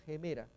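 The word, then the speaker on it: ἡμέρα: Gemera, fijémonos el espíritu rudo mirando a la derecha, lo hace como una pequeña H, como una pequeña J, G. Entonces acá ponemos gemera, podría haber sido una H también acá, pero hay que recordar que no es una H muda, es una H aspirada.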